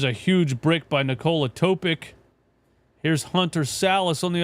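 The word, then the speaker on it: Topić: You pronounce it like yic. So it's Topic. Topic.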